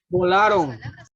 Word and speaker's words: volaron: Volaron.